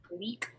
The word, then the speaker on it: Gleik: Okay, so my rogue is named Gleek Laris. Gleek is spelled Gleik, and Laris is spelled Larus.